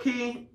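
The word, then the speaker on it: Cay: we say Coco K cuz it Rhymes it looks like K but it is a key but and that's their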